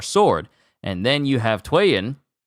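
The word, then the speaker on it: Tweyen: and then you have Twan whose name means is written is said like two and she wields the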